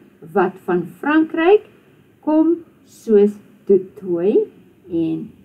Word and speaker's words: du Toit: Baie Afrikaners het vanne wat van Frankryk kom, soos du Toit en Leroux. So remember, if you come across a surname like that, you do not pronounce the T or the X.